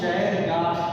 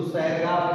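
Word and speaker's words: Chargaff: अब स्पेलिंग ऐसी है कि इसको सैरगाफ भी लिखा जाता है। सैरगाफ का भी नियम किताब में कहीं कहीं छपा मिला, और चेरगाफ भी CH से स्पेलिंग है, तो इसलिए मैं हिंदी में लिख दिया।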